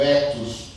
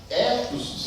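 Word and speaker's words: ἔθος: bem da pólice entretanto havia também a pronúncia da palavra etos com e aberto né não mais o circunflexo agora o tônico aberto não o etos o etos etos significava conjunto reiterado de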